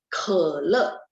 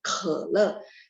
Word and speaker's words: 可乐: 可乐, KH-E ya, bacanya ada angin ini. 可乐, 可乐.